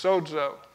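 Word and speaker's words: σῴζω: The Greek word for saved is sozo, and actually it's pronounced like that, but it's got a D in it, so it's sozo.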